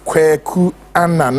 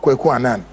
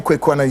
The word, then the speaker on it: Kweku Anan: Until I come your way same time, Friday, my name remains Kweku Anan, not Kweku Anan. You animal. Learn to pronounce it. That's the lesson I'm giving to you. I am Kweku Anan, your investigative journalist.